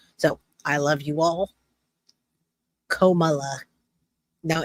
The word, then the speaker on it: Kamala: Comma, like you put a comma in. Kamala, not Kamila. No.